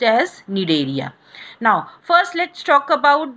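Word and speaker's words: Cnidaria: as need area okay C is silent here so it is pronounced as need area now first let's talk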